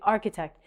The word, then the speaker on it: architect: But we say architect. The c h actually sounds like a k.